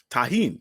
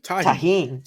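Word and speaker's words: Tajín: How do you pronounce? What is the name of the seasoning? It's Tarjan? What do you call that? Tajin. Tajin.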